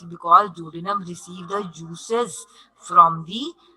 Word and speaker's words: duodenum: Again, please better try to pronounce properly duodenum. Duodenum.